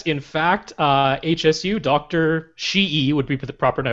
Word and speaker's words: Hsu: say absolutely yes in fact uh hsu doctor she would be the proper pronunciation dr su um he specifically said that